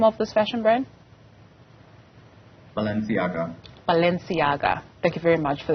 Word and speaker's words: Balenciaga: much for staying with us how do we pronounce the name of this fashion brand Balenciaga Balenciaga thank you very much for that so what